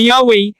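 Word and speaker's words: Yahweh: ang kaniyang pangalan na yhwh malamang ay binibigkas na yahwe at inutusan siyang bumalik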